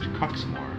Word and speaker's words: Quxmore: QUXMORE is pronounced Coxmore.